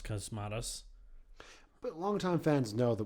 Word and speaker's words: Cosmatos: uh long Halloween I also pronounce the director's name wrong earlier apparently is cosmatus not posmus cosmatos but longtime fans know that we don't know